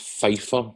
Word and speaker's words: Pfizer: I think it's pronounced Pfizer or Pfizer.